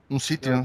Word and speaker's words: sitio: How do you pronounce that, Red Pill? Sitio? Un sitio, yeah.